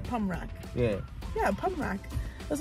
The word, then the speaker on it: Pommerac: say it right yeah don't say right P pum rock yeah yeah pum Rock that's what I said